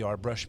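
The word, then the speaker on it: Arbëreshë: But we know when we pull up the history of the Arbresh people, that's for those of you that don't know what that is, it's spelled Arbereshe.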